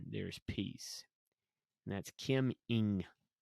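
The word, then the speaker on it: Eng: And that's Kim Ing. I'm assuming E-N-G is pronounced Ing, but Kim Ing.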